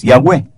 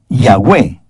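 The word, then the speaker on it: Yahweh: lo he dicho anteriormente Jehová es yahwe palabra realmente impronunciable porque está compuesta de cuatro consonantes yahwe era el más sagrado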